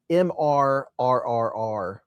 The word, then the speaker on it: Mr.: And I will word it MRRRR, like 4 R's, Fancy Pants. So if you can't roll your R's, you're going to have trouble.